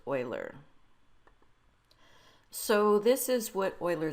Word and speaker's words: Euler: educated people pronounce this uler and it looks like it should be pronounced like that but in fact it is pronounced Oiler okay so here is